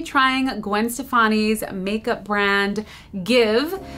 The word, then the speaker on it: GXVE: Gwen Stefani's makeup brand give that is how it's pronounced even though it doesn't look like that it released earlier this